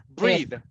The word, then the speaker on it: breathe: Now, no more breath because now it's an action and the pronunciation is breathe, breathe. It's breathe.